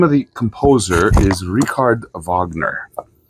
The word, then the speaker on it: Wagner: the composer is rard Vagner it looks like Richard Wagner okay but in German it's rard Vagner okay with this okay